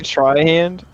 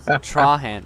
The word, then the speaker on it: Trahan: just she have three hands what you personally try hand I said Trahan so it's t-r-a-h Troy a n straw hand